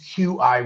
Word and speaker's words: qi: In Chinese, qi, which is chi or ch hi, prana they call it in yogic traditions.